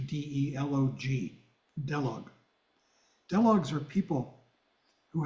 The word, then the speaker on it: delog: ever heard of doogs you might spell it in English d e l o g delog doogs are people